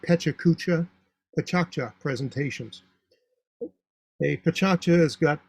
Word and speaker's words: PechaKucha: It's spelled like Pechakucha, Pachakcha presentations.